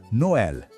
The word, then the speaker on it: Noël: Écoutez : Noël. Avez-vous vu ces deux petits points au-dessus du « e » ? C'est un tréma. Il indique que le son est bien ouvert, comme ceci : Noël.